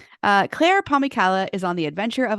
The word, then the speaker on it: Pomykala: It's Pomykala. Pomykala. That's how I was saying it in my head. It's a really fun last name. So awesome. All right. Claire Pomykala is on the adventure of a lifetime, solo